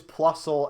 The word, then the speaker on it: Plusle: thing my name yeah okay so it is Plusle and minun okay so I've just been saying